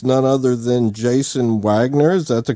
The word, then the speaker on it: Waggoner: and i believe it's none other than Jason Wagner's that the correct pronunciation of the last name that is how